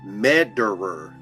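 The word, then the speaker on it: Mederer: His name is Willie Madderer is spelled like M E D E R E R. Sound like murderer to me.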